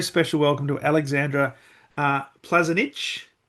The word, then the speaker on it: Plazinic: Uh really looking forward to this conversation and a very special welcome to Alexandra uh Plazanic. How did I go? Very well. Yes, you pronounce it very good.